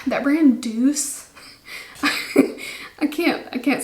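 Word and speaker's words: Doucce: tea there's a few brands like that brand deuce i can't i can't say that name without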